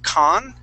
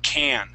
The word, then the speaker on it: can: the word can so instead of saying con okay and pronouncing that a with a with a Spanish a sound yeah there's that that that American a can Okay Okay can all